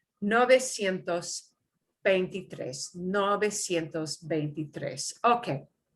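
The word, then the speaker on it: novecientos: and you know because because you know noventa it's easy for that to interfere with the new number and how it interferes is noventa sientos that's and and that is a normal thing for your your brain is looking for a pattern but we cut it down to the short nove nove nove sientos pentitres no besientos betitres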